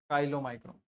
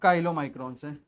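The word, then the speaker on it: chylomicron: spelling में problem है काइलो माइक्रोला नहीं काइलो माइक्रोन काइलो माइक्रोन अच्छा काइलो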